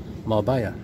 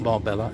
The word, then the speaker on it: Marbella: Two L's is a Y in Spain, okay? Mallorca, two L's, paella, two L's, Marbella. It's not Marbella, it's Marbella. Anyway, that is good.